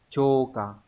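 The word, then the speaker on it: 朝刊: Vậy thì chữ chiều sẽ đọc là chô, đúng không?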